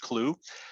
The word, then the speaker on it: Clew: next one is called clue and it's spelled like chu c-h-e-w but it's c-l-e-w pronounced clue this one is really